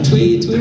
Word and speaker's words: Thuy: I was curious, I'm sorry I can't pronounce her name, but the original Yellow Ranger? Is it Thuy or? Thuy.